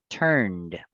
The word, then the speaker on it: turned: Entonces, cuando lo voy a pronunciar con ed, utilizo la misma sílaba, pero la final la voy a agregar una terminación o el sonido va a ser de una D. Turned, turned, turned. ¿Listo? La pronunciación sería así, turned.